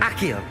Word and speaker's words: Akio: Öyle mi okunuyor? Akio. Evet, doğru okumuşum.